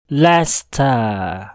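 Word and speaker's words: Leicester: yaitu pada kata berikut Sama halnya dengan kata sebelumnya kita mungkin akan membacanya dengan 3 suku kata yaitu like Chester i Hai chastain padahal yang sebenarnya hanya ada dua suku kata yaitu Lesta Lesta tips yang kelima yaitu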